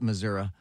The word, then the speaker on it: Missouri: red state Missouri or as they like to say Missouri I never understood why they call it Missouri it ends with an i it's Missouri president Trump says he will